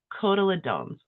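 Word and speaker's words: cotyledons: Kodaladones I'm pretty sure that's how it's said.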